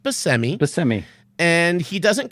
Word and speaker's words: Buscemi: last name is pronounced by semi semi and he doesn't correct people because apparently the name should be Proust the Sicilian pronunciation is Buscemi but his family did not take that pronunciation so he goes they're